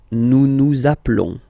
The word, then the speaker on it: appelons: the verb, okay, nous appelons, and then little link would be perfect, so let's pronounce the whole thing again, nous nous appelons, okay, final S doesn't exist, nous nous appelons.